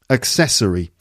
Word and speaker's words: accessory: or something like that right accessory accessory four syllables and it's it's the second syllable again accessory so we had necessary first syllable necessary and accessory accessory four syllables again but different stress second syllable there okay we're now going